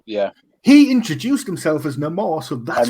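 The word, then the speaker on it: Namor: the the villain's name he calls himself no more everyone else calls him Nemo Neymar yeah he introduced himself as no more so that's how many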